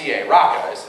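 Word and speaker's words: raca: uses a word um r a rqa is how it's pronounced it's not actually a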